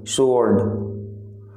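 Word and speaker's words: sword: Next वर्ड है तलवार, तलवार का मतलब है स्वॉर्ड, स्वॉर्ड। आपका स्वॉर्ड में जो साइलेंट लेटर है वो है डब्ल्यू, आप डब्ल्यू का यूज नहीं करते हैं जब आप स्वॉर्ड बोलते हैं।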